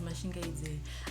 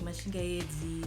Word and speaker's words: Mashingaide: For those of you who don't know how to say it, but if you know how to say it, it's Mashingaide. I've heard people say it like Mashingaide. That's what my university lecturer used to say. He'd be like, Miss Mashingaide, and I'd just be like, I don't know where you're getting the E from.